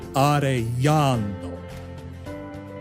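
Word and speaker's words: Arellano: e yeah L yo so it's not arano it's arano l l a tip number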